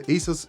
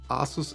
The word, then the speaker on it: ASUS: This is the Asus Vivobook S15 OLED. By the way, don't wonder why I say sometimes ASUS and not ASUS. This is how we pronounce this in German, and this happens from time to time.